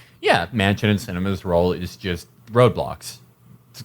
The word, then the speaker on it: Sinema: um says here the arizona senator's name is pronounced cinema and it is apt